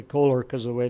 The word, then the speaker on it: Koehler: and address Kaler its Koehler I say Koehler coz the way it's